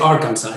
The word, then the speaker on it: Arkansas: Y sí, se pronuncia Arkansas en inglés.